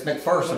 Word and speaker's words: McPherson: It's McPherson. I've been doing it. McPherson, technically, but I grew up pronouncing it McPherson, pronouncing it incorrectly, McPherson.